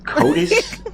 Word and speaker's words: CODIS: CODIS? Is that pronounced right?